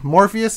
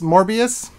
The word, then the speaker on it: Morbius: things about uh i'm gonna say it wrong morpheus morbius the vampire movie he's in from marvel uh